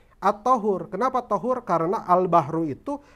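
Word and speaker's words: الطهور: albahru itu at thahur dibacanya jangan thhur at thahur Kenapa thahur karena albahru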